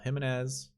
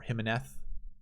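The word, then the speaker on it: Jiménez: Tongchai Jaidi, Miguel Angel Jimenez, or Jimenez, as you would pronounce it correctly.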